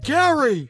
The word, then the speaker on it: Gerry: Oh, you gave it to Elbridge Gerry, didn't you? It looks fine to me. You totally gerrymandered it. It's pronounced Gary.